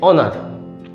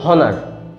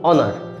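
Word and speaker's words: honour: এটার উচ্চারণটা হচ্ছে অনার, কিন্তু এইচের উচ্চারণ আমরা জানি হ দিয়ে হয়, তো আপনি এটাকে বলুন হনার। একবার বলুন হনার, তারপরে বলুন অনার।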